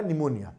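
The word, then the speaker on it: pneumonia: cholera P से होगा निमोनिया P silent होता है निमोनिया आपको ही पता है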